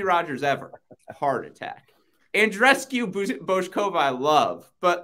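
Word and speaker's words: Bouzková: It's Bojkova. It's a hard O on both parts.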